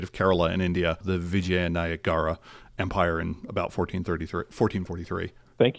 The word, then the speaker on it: Vijayanagara: the, and I'm going to butcher this word, Vijayanagra Empire. Vijayanagra. What is now the state of Kerala in India, the Vijayanagara Empire in about 1443.